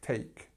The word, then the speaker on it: take: It's not too much of a difficult word for people to pronounce, but just make sure you get that vowel sound right. So A, ache, take.